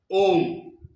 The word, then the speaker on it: ওম: একবার ওম উচ্চারণ করলেন, উচ্চারণটা কিভাবে হয়? ও উ ম, ওম।